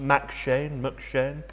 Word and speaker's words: M'Cheyne: I believe it's pronounced McShane.